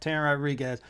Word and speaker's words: Teran Rodrigues: Teran Rodrigues.